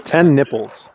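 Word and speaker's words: TenNapel: is that how you say it yes it's 10 nipples okay that's like a dog like a dog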